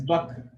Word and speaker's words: Bakr: In Arabic, it's Bakr. There's a K sound there.